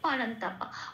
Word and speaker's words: परन्तप: তাহলে এই শব্দের উচ্চারণটা কি পাবো সংস্কৃততে? নষ্ট। এটা। আসি পরের শব্দে পারান্তাপা।